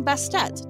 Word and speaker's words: Bastet: Later, she became Bastet to emphasize the pronunciation of the T in her name.